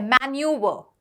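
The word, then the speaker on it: manoeuvre: Pronunciation क्या है? मैन्यूवर। ठीक है? यह ब्रिटिश प्रोनंसिएशन है। इसको हम ऐसे ही बोलेंगे मैन्यूवर।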